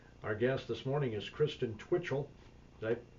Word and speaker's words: Kristen Twitchell: Our guest this morning is Kristen Twitchell. Did I pronounce that right?